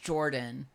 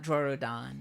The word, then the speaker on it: Jorudan: Okay, it is supposed to be pronounced Jordan, not Jorudan. Yeah, it's spelled Jorudan, but it is based off the name Jordan, based off, like Codeman Camille, says, yeah, Camille Jordan.